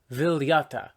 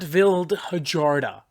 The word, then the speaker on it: Vildhjarta: Vildhjarta. Not Vildhjarta, which is absolutely unironically what I was going to say.